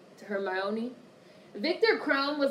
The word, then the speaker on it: Hermione: Ginny Weasley her Mon her my oniy I say her my oniy - I thought that was how you pronounced it Hermione whatever I hate it